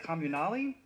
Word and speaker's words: Communale: By John Wayne Communale. Communale? Yes. Okay, good, I did it. I love them, I just didn't know how to pronounce that last syllable.